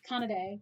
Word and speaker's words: Kanade: Because when they say it in the original dub, it's pronounced Kanade. So I just always say it Kanade.